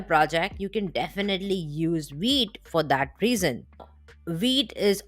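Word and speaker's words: Vite: the next one is wheat the the correct pronunciation is wheat wheat is a really fast Next Generation front-end tooling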